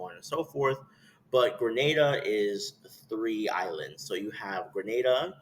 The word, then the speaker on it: Grenada: be called Granada so people hear Grenada and think I'm saying it wrong grada and I'm like no it's Grenada but um but then